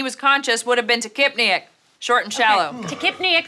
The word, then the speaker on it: tachypneic: Charlie, how do you pronounce that word? Tachypneic.